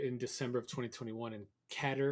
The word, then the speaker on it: Qatar: December of 2021 and cater or Qatar yeah however you want to pronounce it right katar whatever whatever it is so I think it's I'd say kater if I have to but uh I think it's kater too but Umar so Qatar